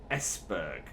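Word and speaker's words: Esbjerg: Yeah, I think the J in that is silent, so it's Esberg or Esberg, and Odense is where we're heading.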